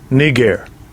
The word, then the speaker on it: Niger: us in the L inlt let's hit his pronunciation strong G 3526 Niger Niger well there you have it it's pronounced